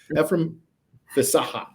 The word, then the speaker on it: Fesaha: to see you tonight pronouncing your last name right I hate when people don't get my name close enough man uh okay all right from the Saha you have to like pause yes before you say that last